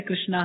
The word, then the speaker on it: कृष्ण: कह रहे थे हरे कृष्णा हरे कृष्णा कृष्णा कृष्णा हरे हरे हरे तो एक पंडित जी बैठे थे वहां पर उन्होंने कहा नहीं नहीं ये ठीक उच्चारण नहीं है कृष्णा नहीं है कृष्ण है आप हरे रामा